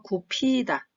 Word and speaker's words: 굽히다: 고개를 숙이다, 허리를 굽히다, 굽히다도 마찬가지로 기읍과 히읗이 만나면 피읍 소리가 납니다. 그래서 굽히다. 그래서 허리를 굽히다, 굽히다.